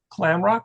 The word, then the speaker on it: McClamrock: Mlamrock, is that right? That's correct. Just like it looks.